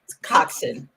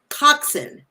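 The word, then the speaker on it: coxswain: and now it's it's how do you pronounce it it's Cox coxin coxin okay so it a rope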